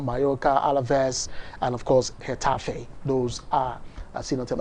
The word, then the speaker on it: Getafe: Of course, Navalcarnero will take on Getafe. Yes, it's called Getafe, not Getafe.